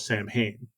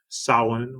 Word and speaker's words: Samhain: traditions of Halloween, such as the Festival of Samhain. Although Samhain is not mentioned on the first film.